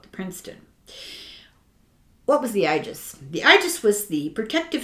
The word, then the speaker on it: Aegis: is i a e is pronounced long I it's uh an air